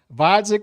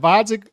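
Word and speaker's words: Gvozdyk: and requested 175 interim to fight vodic with a silent G who is older and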